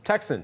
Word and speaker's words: TXN: Shares for the ticker symbol pronounced Texan, TXN.